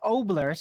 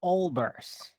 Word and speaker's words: Olbers: And by the way, it's not Oblers, it's Olbers. Olbers.